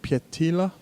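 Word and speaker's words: Pietilä: Daniel, can you pronounce the name for me, please? It looks maybe Finnish or... I don't speak Finnish, but it's Roy Pietila.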